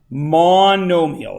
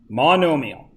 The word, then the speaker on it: monomial: second 2's squared that is a monomial okay mondo meal it's pronounced monomial and then we draw it does everybody understand